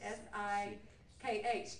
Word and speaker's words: Sikh: S-I-K-H. People want to say Sikh, but I was educated by all the Sikhs who came that it's pronounced Sikh.